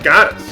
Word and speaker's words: Gades: doesn't work for me calling him the name of a female god. I'm not going to pronounce it that way. I don't care if that's technically correct. I'm pronouncing it Gades.